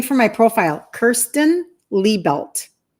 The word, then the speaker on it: Liebelt: i e looks like lie down and then belt that you wear around your pants but it's pronounced Lee belt so Kirsten Lee belt